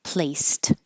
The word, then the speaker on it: placed: placed by itself place the Ed sounds like T placed if there's in after